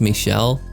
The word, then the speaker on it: Michel: That's when we're introduced to, gonna be honest guys, during my entire playthrough I called him Michael, but I'm pretty sure it's pronounced Michel. I think it's French or something, so for simplicity's sake, we're just gonna stick with the name Eikichi.